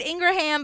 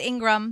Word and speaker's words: Ingram: And I'm sorry I said Ingraham because of the way it's spelled, but it's Ingram.